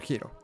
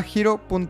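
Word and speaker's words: Hiro: para conocer más este episodio es patrocinado por giro tu portal seguro sencillo y entendible en la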